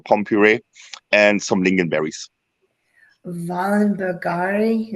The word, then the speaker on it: Wallenbergare: Wallenbergare, is that how you pronounce it? Wallenbergare. Yes.